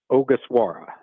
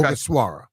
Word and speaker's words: Ogasawara: I'll let you tell me how to pronounce it. All right, I believe I have it finally. It's Shinosuke Ogasawara. Okay. Ogasawara. What do we need to Ogasawara. know here? Shinosuke Ogasawara.